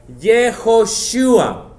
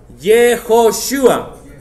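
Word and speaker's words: יהושע: Quiero que me lo pronuncie bien. Yehoshua. Yehoshua. Yeh significa Jehová, Joshua significa nuestro Salvador. Cuando lo acortas, Yehoshua es Yeshua.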